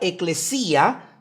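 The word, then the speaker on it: ἐκκλησία: El término griego eclesias se escribe con de hecho se pronuncia eclesía, se pronuncia con tiene 2K.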